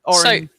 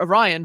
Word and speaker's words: Orion: I just realized that my wife's car is called Orion, and it was made at Orin, and it's spelt the same. So it's Orin, or Orion from Orin.